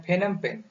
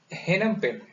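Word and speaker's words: Phnom Penh: इसको ध्यान से देखिएगा, इसको हमने प्रोनाउंसिएट किया है फेनम पेन। कुछ लोगों ने इसे प्रोनाउंसिएट किया है हेनम पेन। इसलिए पी को किसी ने साइलेंट किया है और किसी ने पी को यूज किया है, तो ध्यान से आप देखिएगा, कंफ्यूज ना हो।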